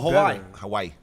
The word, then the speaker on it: Hawaii: Oh, Hawaii. Hawaii. How you pronounce that? Hawaii, nigga. Yeah. No, don't say yeah. He kind of pronounces the second I.